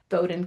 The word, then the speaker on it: Bowdoin: So Bowden College rhymes with exploding knowledge.